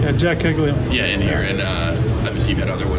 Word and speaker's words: Caglianone: We had Caglianone, is that how you pronounce his name? Yeah, Jack Caglianone.